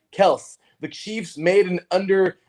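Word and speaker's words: Kelce: taryn says remember y'all travis kelsey's name is pronounced kels the chiefs made an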